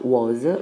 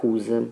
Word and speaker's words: whose: la question word whose, che non si pronuncia was, ma whose, di chi.